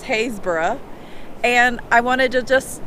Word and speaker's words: Happisburgh: called Hayes Borough Beach it spelled like you would think it's called Happisburgh but it's Hayes bura and I wanted to